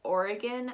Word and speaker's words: Oregon: variation of that and you're actually not going to be pronouncing this like oregano which is the spice that you put on pizza but you're actually going to pronounce this as aureken or again and that g-o-n turns into a g-i-n instead of polygon which